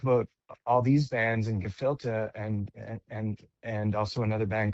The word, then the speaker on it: Gephilte: And he put together this project called Gephilte, which is a klezmer jam band. Gephilte, like gefilte fish, usually spelt with an F, but in this case, it's spelt with a PH, which is a bit